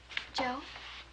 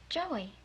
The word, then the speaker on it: Joe: is here look now here's how you spell my name j o e Joe Joey no no no not Joey Joe oh the E silent the E is silent right see the way